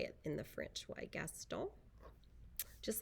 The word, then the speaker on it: Gaston: this one it's called gaston and that's the french pronunciation of a french name and we know we